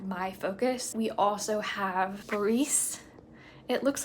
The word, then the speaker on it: Boris: kind of like my focus we also have borice it looks like Boris when you read it but it's borice is how it's pronounced Natasha is the young girl who at